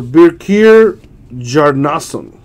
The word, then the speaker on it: Birkir Bjarnason: For Birkir Bjarnason. I know the B is silent.